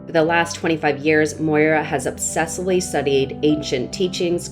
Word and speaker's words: Moira: I said it right, Moira.